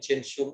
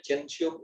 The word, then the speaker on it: Gentium: Mas ingat kan Lumen Gentium itu apa? Lumen Gentium itu, bacanya Gentium, bukan Gentium.